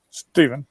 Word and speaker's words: Stephen: and uh okay so am i saying that right is that steven or stefan yeah stephen yeah stephen okay see and i came from kansas and kansas that spoke would have been pronounced stefan so sometimes you go